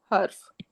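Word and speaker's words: حروف: के साथ होता है हर्फ। राइट? और उसका प्लूरल क्या है? हुरूफ। ठीक है? है और वह द्मा के साथ है। तो इसकी प्रोनाउंसिएशन भी हमने सही तरह से बोलनी है।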